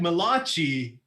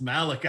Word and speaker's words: Malachi: fantastic well his name's not it looks like malachi but it's pronounced malachi i still enjoy that i would ever say